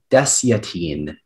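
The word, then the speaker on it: desyatine: there any alternate pronunciations there is one there's deciatine also dash yatine can you repeat all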